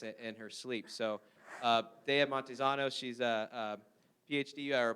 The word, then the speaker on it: Montezano: Montezano?